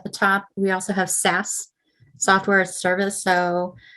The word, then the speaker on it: SaaS: You can see there at the top, we also have SaaS, software as a service. So that's how you pronounce that.